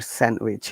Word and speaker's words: sandwich: is it sandwich or sandwich let me see sandwich okay remember in sandwich these silent that's why it's very